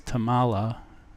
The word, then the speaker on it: Tummala: The author's name is Tummala. It's spelled Tummala.